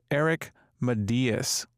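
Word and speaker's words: Matyas: Their name is pronounced Eric Medias. I kind of butchered it earlier. It's Medias.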